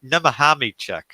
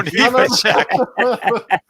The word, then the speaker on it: Nemechek: I heard Nemahami-check or something like that. What? It's Joe Nemechek.